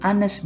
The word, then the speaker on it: honest: Apa yang dimaksud dengan silent H adalah kata benda tunggal yang diawali dengan huruf H, tetapi huruf H-nya tidak terbaca. Sebagai contoh, di sini ada kata an honest man, an honorable person, dan an hour.